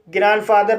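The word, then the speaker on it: grandfather: ग्रैंडफादर, ग्रैंडफादर में पहला syllable N डी से समाप्त हुआ है और दूसरा सिलेबल कंसोनेंट एफ से शुरू हुआ है, इसलिए डी साइलेंट है, इसलिए इसे ग्रैंडफादर पढ़ा जाता है।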